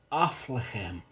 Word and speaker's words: Affligem: an abbey beer from aflahem which i'm assured is how you pronounce it athlete athlete jam or